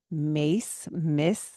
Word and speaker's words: Myss: And one of these many resources that came into my life was the work of Carolyn Miss. It's spelled Myss.